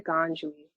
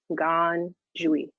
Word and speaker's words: Ngad: said i'm dr ganjui my pronouns are she her and you can see the pronunciation of my name gone joey say it really fast sorry to interrupt you